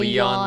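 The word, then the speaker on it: Leijon: Leon like a lion. Yeah. Second, oh, okay. Invisible J.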